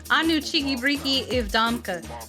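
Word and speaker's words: Ну, чики-брики и в дамки: It was derived from a Russian phrase in phonetic English. The full quote is pronounced Anu cheeky breaky ivdamka.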